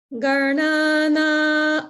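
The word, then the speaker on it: गणानां: Only thing is, when you say garnana an, just lengthen that na an a little bit, just a little bit, okay?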